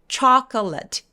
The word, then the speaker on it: chocolate: 초콜릿도 chocolate, chocolate가 아니라 중간에 O가 없어져요.